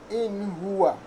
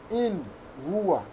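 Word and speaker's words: إِنْ هُوَ: In huwa. In huwa. You must clarify this nun. You must pronounce it clearly.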